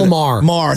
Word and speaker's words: Maher: Yesterday there was uh is it Maher? Mayor, Bill Mayer, whatever. Bill Maher. Thank you.